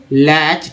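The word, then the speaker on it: latch: लैटकियंस, next है लैटकियंस का लैच Ford, लैच, TCH को चा बोलते हैं इसलिए अच्छा उच्चारण हुआ।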